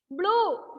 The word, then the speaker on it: blue: Blue. Pulu, not a pulu. Adandu a pulu. Blue. Blue. Okay, blue.